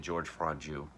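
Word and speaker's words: Georges Franju: directed by george franjoux george ends with an s so i don't i'm saying george franju it just stars pierre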